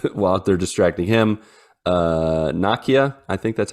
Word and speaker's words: Nakia: gonna work and while they're distracting him uh Nokia I think that's how you say her name yep Nakia uh they bring her out of the woodwork